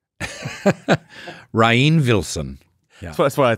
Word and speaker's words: Rainn: It's like, well, it's Rain, R-A-I-N, right?